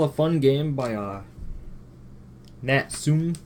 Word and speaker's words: Natsume: fun game by uh natsume I think that's name pronounced that company is natum or natsumi I think it's like nsum the their logo if I remember correctly it was like nsum serious fun but this is a